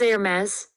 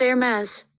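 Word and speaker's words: Hermès: you can see now it's nailed the pronunciation based on the text that i've written down instead of pronouncing it the old way which was again my favorite brand is air mass so that was just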